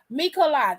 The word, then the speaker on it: Michelada: Oh, Mikolada. Is that how you say it? Oh, Mikolada. Oh, the A is long. Mikolada.